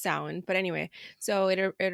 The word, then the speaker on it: Samhain: Celtic holiday originates from the old Irish words samine which means Summer's end and I'm probably said that super wrong I'm sorry don't have any Irish ancestor it's a hard word you guys but it's it's pronounced sound but anyway so it it originates from from